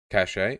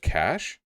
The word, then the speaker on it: cache: Cache? It's just cash? It's just cash? It's not cache? Oh, thank God. Now I can axe one more vaguely French pronunciation for my lexicon.